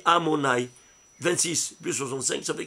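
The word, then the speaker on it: Adonaï: Il s'écrit Yudkevavke, mais il se lit Amonai.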